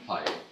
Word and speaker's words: Paea: Paea.